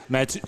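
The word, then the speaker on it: Mathieu: Matu. Is that how you pronounce it?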